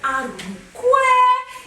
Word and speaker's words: Arukwe: the one and only Mr. Arukwe. Yes, that's the pronunciation.